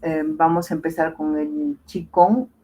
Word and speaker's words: Qigong: Y en este caso vamos a hablar del Qigong, o Qigong también, se pronuncia así.